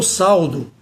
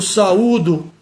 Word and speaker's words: saúdo: Eu saudo o companheiro, eu saudo. Está errado. A forma de pronunciar qual é? Eu saúdo o companheiro, eu saúdo o amigo, eu saúdo o meu irmão. Esse saúdo, portanto, tem um acento agudo na letra U.